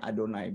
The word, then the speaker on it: Adonai: Tapi tidak boleh dibaca di dalam bahasa Ibrani. Makanya saya membacanya Adonai. Dan memang begitulah cara membacanya Adonai. Bukan membacanya Yehova ya.